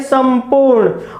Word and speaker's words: संपूर्ण: हम कर रहे हैं संपूर्ण और इसका उच्चारण हम कर रहे हैं संदेह, यहां मैं यहां ने, क्यों?